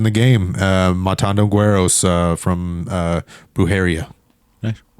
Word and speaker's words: Brujeria: Matando Güeros from Brujeria. Nice. Brujeria. Sorry. Try to pronounce that right too.